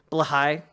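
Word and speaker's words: Blåhaj: the BL Road joke only makes sense if blahaj is pronounced the Swedish way Bligh yeah true yeah no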